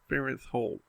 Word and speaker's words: Farenthold: Farenthold.